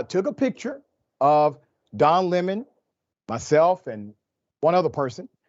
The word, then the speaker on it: Lemon: of Buzz about Don limon's appearance at the UTA party so let's highlight some of these Dynamics on Fox News Carlson intentionally mispronounces the name of Don Lemon he calls him leemon all right he's been